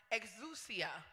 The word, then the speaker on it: exousia: want to talk about the first one is pronounced exousia e-x-o-u-s-i-a it's a greek word hallelujah which means